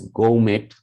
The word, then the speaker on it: gourmet: Now check here that R is not pronounced, same as when that R is here, G-O-U-R, that is also not pronounced. That is pronounced as Konose, and that is Gaumet or Gaumet, but R is not pronounced.